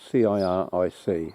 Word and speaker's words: ciric: Now, I can't speak Saxon, but I think the word is spelt C-I-R-I-C. I think it's pronounced ciric.